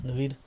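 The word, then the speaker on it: Naved: N-A-V-E-D. What does that say? Navid.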